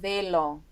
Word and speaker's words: Revelo: Revelo. That's how you say it. Am I rolling my R's too much?